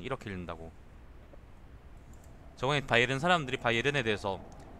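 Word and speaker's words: Bayern: 그것도 그 그냥 바이에른으로 읽으면 되는 게 아니라 화난 듯이 읽어야 돼요. 독일이니까 독일어니까 바이에른 바이에든 이렇게 읽는다고. 저번에 바이에른 사람들이 바이에른에 대해서 바이에른을 발음하는 걸 들어봤는데 진짜 바이에른 바이에른 이렇게 읽더라니까.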